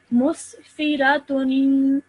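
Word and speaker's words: مسفرة: Okay, don't stretch the fi out for too long because it only has a simple kasra underneath it. So one more time. Musfiratun.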